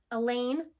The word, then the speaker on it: Elaine: let it be her Elaine rhymes with pain I'll probably never find